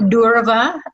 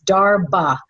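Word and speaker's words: darbha: you can look up the grass d h a r b h a sometimes it's spelled like that or d a r b h a dharma not durava like as in ganesha grass it's darba so uh so you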